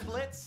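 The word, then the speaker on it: Blitzø: talker are we I'm Blitz the O is silent I'm sure we're going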